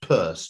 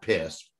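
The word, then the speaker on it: Peirce: uh saunders purse p-e-i-r-s-r-c-e which is weirdly pronounced purse not pierce who's probably the greatest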